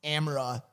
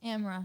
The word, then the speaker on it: Amara: r a it's pronounced amra like camera without the C amra which one does she prefer uh amra amra yeah without the